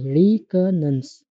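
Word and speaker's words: reconnaissance: एंड इसको pronounce कैसे करते हैं? ऐसे रिकनेंस।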